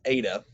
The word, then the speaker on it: eta: the next one is eta eta looks like an n don't get confused ada is pronounced like the e in obey i just think of